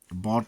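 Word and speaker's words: bought: यू जी एच यू जी एस टी में प्रायः यू या यू जी एच साइलेंट होते हैं, जैसे कॉट पकड़ा, ब्रॉट लाया, बॉट खरीदा, थॉट विचार।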